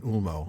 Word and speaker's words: Ulmo: And then finally, if the O is the last letter, if it's at the end of the word like in Ulmo, it's a long O as in English foe.